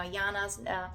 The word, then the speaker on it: Yana: name Yana in Europe it's actually spelled with J um here we pronounce it with Y and I always loved